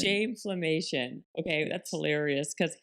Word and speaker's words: Shameflammation: I have it written down as shameflation, but how do you say it? Shameflammation. Shameflammation.